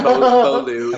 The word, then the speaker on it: Beaulieu: Yeah, Beaulieu. Okay. Just pronounce it how you want.